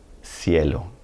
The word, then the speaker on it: cielo: And then when it appears before an E or an I, it's going to sound like an S, central, cielo, central, cielo.